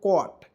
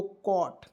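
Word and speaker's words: caught: जीी एस टी तो इसे क्या पढ़ेंगे दोस्तों कट देखिएगा सी का उच्चारण क के रूप में और ए यूजी एसटी तो इसका उच्चारण ऑट के रूप में तो क्या पढ़ेंगे दोस्तों कॉट कॉट मीस क्या होता है दोस्तों पकड़ना पकड़ा या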